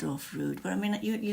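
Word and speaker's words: Froud: It's either it's pronounced fraud or fude. But I mean, you you don't say clude, do you say cloud? It's spelled with O, so I would say fraud.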